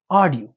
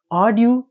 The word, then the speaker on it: audio: نو مطلب دویمه قاعده ده هر وخت یو کلمه په ای یو شروع وي نو داسې فکر وکړئ چې دا یو نه تلفظ کړي، صرف ای وایي آ. صحیح شو. نو دا چې شو author audience audio.